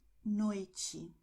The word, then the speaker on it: noite: And then you have the combinations TI always and TE at the end of the word. And in this case, you're going to have the sound that you have in match. Okay, so you're going to have Tiago, noite.